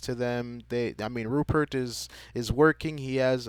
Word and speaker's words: Rupert: is i keep want i keep wanting to call him rubert uh but his name is a rupert if i'm pronouncing it